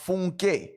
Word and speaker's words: Funke: who marry into the Funky Mamas. Okay, somebody is okay. I'm sorry. Somebody, it's Nigerian. Yeah, that's what the lady was. Funke. You say it's pronounced Funke. Oh, and it's a Yoruba name.